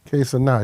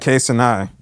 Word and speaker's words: Kai Cenat: Kai Cenat. He's from the Bronx. Get it right. Okay. Get the name right. Kai Cenat.